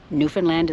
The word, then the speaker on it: Newfoundland: Anyway, Newfoundland is the correct pronunciation.